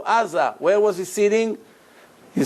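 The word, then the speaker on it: עזה: How do you say Gaza in Hebrew? Aza.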